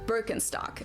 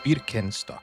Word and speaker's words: Birkenstock: So, English speakers usually say Birkenstock. In German, I would say Birkenstock.